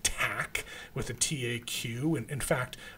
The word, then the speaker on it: Taq: something called Tac polymerase this is this is pronounced Tac with a taq in fact I think in